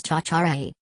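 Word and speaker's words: tjatjarag: Pronounced as cha-cha-ray, it means to be forward, overeager, overexcitable, and or annoying.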